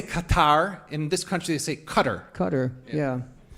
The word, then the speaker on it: Qatar: Um, including how to pronounce it because I know some people say cutter. That's where we say Qatar.